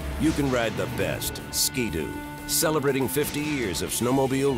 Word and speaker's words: Ski-Doo: How should we pronounce Skidoo?